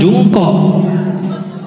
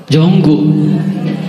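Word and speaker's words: Jungkook: Itu kan tulisannya Jungkok, bacanya apa? Bukan Jungkok. Jonggu.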